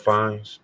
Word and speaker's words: Fiennes: Ralph Fiennes.